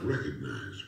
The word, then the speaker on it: recognize: use of the world recognized well time for the game to get people saying recognize there's a letter G in there and it's supposed to be pronounced now you don't have